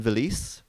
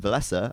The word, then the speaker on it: Villese: that's his name and I used to call him Veliz but then I heard all of the Finn's calling him vilasa and I realized oh I'm saying it wrong so no I say